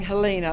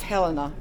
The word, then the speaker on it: Helena: Well, I've been saying Helena all this time, but it's Helena.